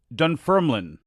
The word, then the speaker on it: Dunfermline: wrestling hall of fame i badly butchered the name of the host city it's dunfermline i apologize to the people